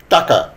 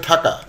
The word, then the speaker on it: টাকা: যেমন কাক, এটা হয়ে গেল খাক, চাচা, এটা উচ্চারণ করতে গিয়ে হয়ে গেল চাচা, টাকা, এটা উচ্চারণ করতে যে ঠাকা, গাড়ি, সেটি অনেক সময় হয়ে যাচ্ছে ঘাড়ি, পতাকা,